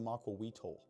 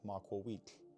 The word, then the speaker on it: macuahuitl: Well, it's not pronounced the macuahuitl. That's stupid. It's a Nahuatl word and you pronounce it macuahuitl.